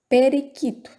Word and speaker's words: periquito: Periquito, nessa a gente não pronunciou, viu?